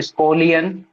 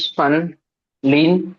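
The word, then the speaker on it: Schönlein: इसको अलग अलग नाम से जाना जाता है, जर्मन प्रोनाउंसिएशन है इसका, इंग्लिश प्रोनाउंस भी होता है हिनोच सन लीन परप्यूरा भी बोलते हैं इसको, है ना। स्कोलियन और सन, है ना, दोनों में अंतर है।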